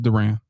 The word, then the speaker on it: Duran: It's Duran. Well, it's kind of Durant. It's kind of like Durant. It's kind of like his name. So Durant is spelled differently than Duran.